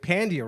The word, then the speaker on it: Pandya: Am I saying it right? Yeah, Pandya. God fucking damn it! Sorry. How long have I known you? God damn it! I was just watching you. Did they at Dry Bar? Your special? Did Yeah. he say it right? Okay, he They said it right. Yeah. I said it wrong. Pandya, right? Pandya. Pandya. God damn it! I'm still saying it wrong.